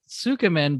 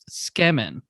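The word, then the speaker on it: つけ麺: So a lot of people pronounce it Sukumen, but it's actually pronounced Skemen.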